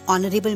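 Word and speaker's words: honour: An honest man, यहाँ पर H silent होता है. एन ऑनरेबल मैन.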